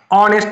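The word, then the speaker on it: honest: is dash অনেস্ট গাই অনেস্ট তাহলে এইচ উচ্চারণ এর মতো হচ্ছে না অ হচ্ছে সেখানে তাহলে এন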